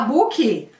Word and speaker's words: book: Ó, book, termina com K. K. Então como é que você vai falar? Book. Eu vou dar uma exagerada nesses finais, K, pra você ouvir bem.